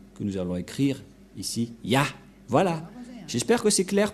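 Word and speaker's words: יה: vais mettre en bas, sa prononciation se lit I et l'autre se lit AH. Je vais expliquer simplement. Et lorsque on va regrouper à la normale, ça se transforme en Ya, que nous allons écrire ici, Ya.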